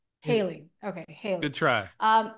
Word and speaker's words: Haley: wife uh is it it's hiy right I'm pronouncing her name right haly Haley okay Haley good try